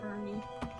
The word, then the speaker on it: Fearney: Fernie. It's spelled Fearney. Dear Yeah, Fearney. Fernie. Fernie.